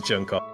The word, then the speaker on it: Junko: I'm glad we could teach you how to pronounce junko junko my queen mama junko she pretty epic I